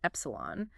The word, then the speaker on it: epsilon: F and represented by the Greek letter Exelon pronounced Epsilon electromotive force is what